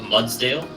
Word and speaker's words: Mudsdale: do you spell it mud like a Clydesdale but mudsdale oh yes this one's